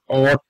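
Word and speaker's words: ought: must এটা অট টু অট টু টাকে অনেকে আউট টু বলে থাকে এটা হবে অট টু অট সরে অর্থ অট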